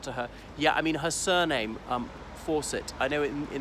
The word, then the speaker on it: Fawcett: sure what about to her yeah her surname Forsett I know it in the United Sates we pronounce faucet obviously in in in the item